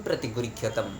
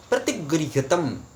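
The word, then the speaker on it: प्रतिगृह्यताम्: ने मुझे पूछा है ये प्रतिगृह्यतम यानी कि म होगा या फिर अनुस्वर होगा। तो क्या होता है जब हम उच्चारण कर रहे हैं संस्कृत में प्रतिगृह्यतम इस प्रकार से जब हम कर रहे हैं, तो वो ना प्रतिगृह्यतम अत्यंत अनुस्वर कई समय जो है वो सुनाई देता है, पर असल में जो है वो म है।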